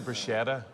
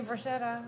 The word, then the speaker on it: bruschetta: Bruschetta. Sk. That's what we say, all right?